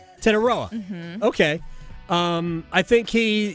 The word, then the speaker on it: Tetairoa: I don't know how to pronounce his first name. Tetairoa? Tetairoa.